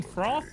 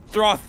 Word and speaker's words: froth: You mean froth? Throth. Sorry, Throth. No, you still said it wrong. Froth.